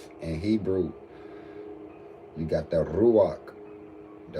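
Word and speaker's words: רוח: In Hebrew, you got the ruach. The ruach is how you pronounce spirit in Hebrew.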